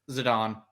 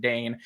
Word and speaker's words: Zidane: pronounce their name properly is it zidane or zidon zidon okay because that's how it's pronounced in uh verses yes it's how it's pronounced in stuff like ddia basically right deia because zadon